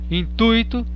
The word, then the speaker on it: intuito: A gente costuma falar gratuito, circuito, fortuito, intuito, mas não é assim, porque elas são paroxítonas. Então a pronúncia correta é gratuito, circuito, fortuito, intuito.